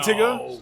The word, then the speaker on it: Tyga: Listen, it's Tigga. I think It's Tigga. Is it Tyga? Tigga. That's how you say it. It's Tigga.